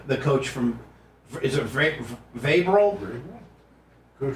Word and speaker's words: Vrabel: Is it Vabral? Coach Vrabel?